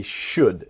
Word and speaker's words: should: So they should. Remember, the L in should is silent.